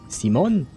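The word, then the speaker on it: Simón: It's because yes is C, and oh right, in Spanish you would pronounce it Simon.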